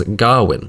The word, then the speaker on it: Gawain: One place they do stick to authentic though is Gawain's name, which is rightfully pronounced with the harder vowel sounds of olde English as Garwin.